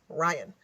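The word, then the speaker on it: Rion: Spencer's best man and Ryan Morgan who was a groomsman he spells his name really cool it's r i o n Ryan oh yes you know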